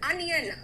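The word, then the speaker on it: onion: एंड अनियन, आ है pronunciation, ओनियन नहीं है, अनियन है।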